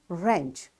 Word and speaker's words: wrench: tool you know so all these words are written with w but it's this w is silent over here y because all the w's are followed by r you got the rule whenever w is followed by r this w will be a silent letter in that void the